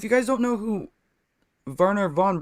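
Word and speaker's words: Wernher: Anyways, and if you guys don't know who Werner von Braun is, I can put his name in the comments too.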